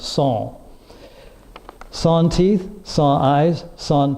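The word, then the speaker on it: sans: French word si ans when in the United States we pronounce it sent it's actually pronounced song sawn teeth saw eyes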